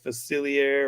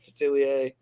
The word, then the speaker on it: Facilier: Hocus Pocus life it's it's like a Cajun pron a French pronunciation like facilier or facilier yeah um what I